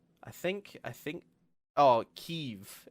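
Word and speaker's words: Kyiv: think I think oh keev is how you say it in the Ukraine you say ke mhm um but obviously in the west we call it we say Kiev um because we can't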